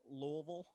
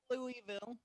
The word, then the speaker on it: Louisville: Can you pronounce that city in Kentucky that you keep saying? Louisville.